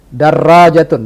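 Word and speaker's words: دراجة: Darrajatun dengan ra tasdid, fallah dengan lam ditasdid, aliyun dengan ya ditasdid.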